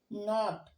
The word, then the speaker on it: knot: और अगला वर्ड है KNOT नॉट, ओके। इसे हम कनॉट नहीं पढ़ेंगे, अब हम इसे पढ़ेंगे नॉट, ओके।